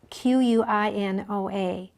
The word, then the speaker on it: quinoa: It's spelled Quinoa. Actually is an Indian word, even though we say it quinoa.